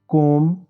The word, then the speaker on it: comb: NUMB नम, DUMB डम, THUMB थम, COMB कोम। इन सब शब्दों में बी प्रोनाउंस नहीं हो रहा, सिर्फ एम की आवाज़ आ रही है तो बी साइलेंट है दोस्तों।